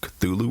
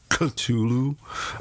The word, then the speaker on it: Cthulhu: S.T. Joshi says it's more like a cough, and you hold your tongue at the top roof of your mouth and like in a coughing sound like Cthulhu, but I just say Cthulhu, so just for namesake.